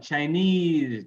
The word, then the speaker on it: Chinese: Stress ease in noun, Chinese, Japanese, Vietnamese, right?